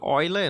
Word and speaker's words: Euler: Aqui é para poliedros convexos tá que foi Oi Lê nunca se escreve Euler né mas se lê vai ler